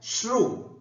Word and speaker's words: श्रु: अब हम श्रु धातु को पढ़ करके उसका अभ्यास भी यहां पर करेंगे। एक बार शुद्ध उच्चारण। धातु है श्रु, श र, श्रु।